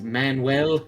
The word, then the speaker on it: Manuel: I just want to point out that name's pronounced Manuel.